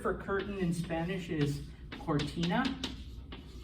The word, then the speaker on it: cortina: The word for curtain in Spanish is cortina. Because it comes before an O, cortina, okay?